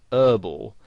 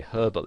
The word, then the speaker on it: herbal: would pronounce it whereas in british english you would pronounce the h and you would say herbal essences and you might